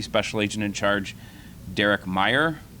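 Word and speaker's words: Mayer: first from Deputy special agent in charge Derek Meyer it's uh pronounced Meyer it's spelled m a ye R Derek is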